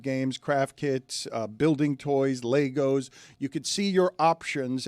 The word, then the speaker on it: Lego: I've noticed that. Yeah. So Legos. Legos instead of Legos? Yeah, the right way. Okay. Lego my ego. How's it spelled? With an E, not an A.